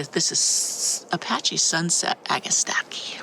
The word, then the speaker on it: Agastache: This is Apache Sunset Agastache or Agastache as some people pronounce it.